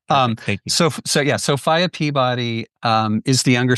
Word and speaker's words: Sophia: Um, and one tiny minor correction, which is the 19th century pronunciation of her name was Sopia.